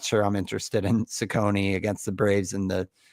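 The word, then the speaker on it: Cecconi: Is it Sakonei? Sakonei. Yeah, Sakonei.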